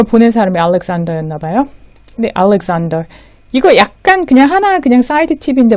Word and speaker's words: Alexander: 근데 알렉산더 이거 약간 그냥 사이드 팁인데 말씀드리면 이게 미국에서는 알렉산더 S 발음에 더 가깝게 날 것 같은데 영국 사람들은 들어보면 알렉산더, 잔더로 발음 많이 합니다.